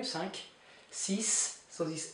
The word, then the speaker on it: cinq: Cinq, you pronounce the Q here, cinq.